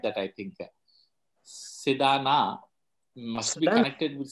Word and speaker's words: Sedana: pronounce my name correctly, perfectly, Sedana. In Thank America, you so much. many people call me Sedena instead of Sedana, but you pronounce it correctly.